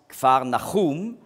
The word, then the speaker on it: Kfar Nahum: En hébreu, on prononce Kfar Nahum, ce qui veut dire village de la consolation ou village du consolateur.